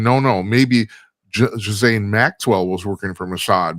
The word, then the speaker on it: Ghislaine: What if Ghislaine Matt, whatever how the fuck you pronounce her?